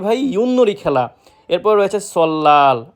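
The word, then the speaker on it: 설날: এরপর রয়েছে সল্লাল। আমরা এটাকে প্রায় সময় সলনাল উচ্চারিত করে থাকি, যেটা সম্পূর্ণরূপে ভুল। সঠিক উচ্চারণ সল্লাল, যার অর্থ নববর্ষ।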